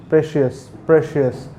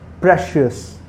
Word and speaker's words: precious: Most of the people used to call it precious, but it is the word mainly be pronounced as precious. Okay, means you have to make a stress upon the P.